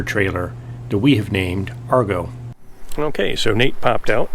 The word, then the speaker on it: Argo: And then realized that the ship was actually named Argo. Yeah. And Argonauts. And it sounds like the word cargo.